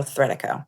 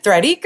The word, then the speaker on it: Threadico: So, Threadico, like Art Deco, people have a hard time pronouncing it, so I'm hoping that as we get more Thread Eco, Threadco anyway, Threadico.